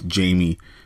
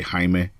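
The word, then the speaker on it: Jaime: Hae is now now in Spanish it's spelled Jamie in if you say it in English it's Jamie but in in Spanish we say haime one H sounds better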